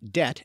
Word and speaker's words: debt: This is when, for instance, the silent letter B is added to words like debt and doubt because it shows they came from the Latin words debitum and dubitare, even though they were never pronounced that way in English.